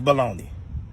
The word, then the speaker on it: bologna: Now, all my life growing up, I was taught that this word right here was baloney. It's supposed to be bologna. But then we'll tell somebody, no, that's not how you say it. It's baloney. The way that we say it is baloney.